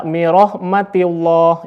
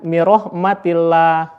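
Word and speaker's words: من رحمة الله: Nah, rahmatillah ini dihukumi dengan tarkik, dibacanya tipis. Jadi tidak boleh dibaca mirahmatillah, itu salah atau kurang tepat. Harusnya mirahmatillah. Jadi tarkik.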